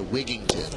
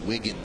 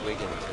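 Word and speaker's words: Wigginton: so a lot of people do say Tai wigington but it's Ty wigton Ty wigton wi I don't want to upet people so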